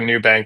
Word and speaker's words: Nubank: It's spelled NU bank, but so it sounds like a New Bank, but NU the word actually means naked in Portuguese.